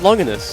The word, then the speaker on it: Longinus: It's pronounced Longinus. Ah. See? I see. Longinus. Or Longinus. Yeah, it's clearly pronounced Longinus.